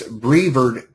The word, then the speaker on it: Brevard: out with you and I'm getting corrected on it's brever County uh instead of the way I was pronouncing it my uh my apologies